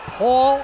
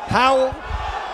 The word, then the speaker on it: Pawel: crowd here for Wallach his name is pronounced Paul in English Powell internationally it's a Powell tonight